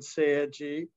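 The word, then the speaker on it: 青磁: The Chinese term for celadon is qingzi, the same two characters used in Korean and Japanese, pronounced chengja in Korean and seiji in Japanese.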